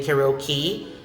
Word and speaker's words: karaoke: Next is karaoke. You can also say karaoke or you can say karaoke. But I am sure that in our community, especially in the Philippines, we're understood but just say karaoke.